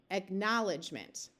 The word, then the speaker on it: acknowledgement: sound quite right so let's switch from the long o sound of o w to the ow sound acknowledgement that almost sounds like a word let's say it slightly differently acknowledgement there we go all right right here